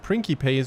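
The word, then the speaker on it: principes: Some of these Prinkypace, somebody in the comments actually mentioned that my pronunciation of prinkypes was originally actually correct because in classic Latin,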